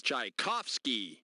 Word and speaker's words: Tchaikovsky: okay you got it good to pop the pronunciation for this famous Russian composer is Tchaikovsky yeah I was gonna be saying Tchaikovsky so if I'm not mistaken I think I